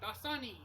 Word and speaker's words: Dasani: i'm going to try the daisani by sunny dasani what the hell how the hell do you even pronounce this brand name it's d-a-s-a-n-i dasani but